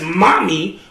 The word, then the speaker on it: MOME: And phonetically, it says mommy, which meant my wife.